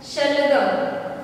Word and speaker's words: शलगम: ये तालव्य स्वर है, इसको आपको थोड़ा सा जीभ के बीच में जीवा रख के बोलना होता है शलगम।